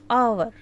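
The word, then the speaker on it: hour: we call और से आवर what आवर अब हम एच यहां पे साइलेंट है स्टार्ट तो ये कंसोनेंट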